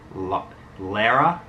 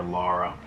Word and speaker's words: Lara: Tomb Raider 2 and I actually think it's pronounced Lara laracroft is the correct pronunciation for most of you out there who call her Laura but I already have uh Tomb Raider 2